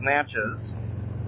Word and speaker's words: Natchez: This is Natchez Trace, or Natchez Trace, I think is how they actually pronounced it. Somebody corrected me last night when we were out and about in Columbia. And so it's Natchez Trace.